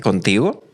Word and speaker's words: contigo: You can hear a really hard G there. So I'm sure you might have seen this word spelt, knows it's a G, but it's actually contigo, that it's soft.